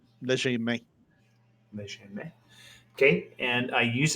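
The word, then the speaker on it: legerdemain: Ledgermane is how most English people say it. Okay. It's from the French, léger. Léger. Yeah, Okay. Léger. literally light hand. Léger main.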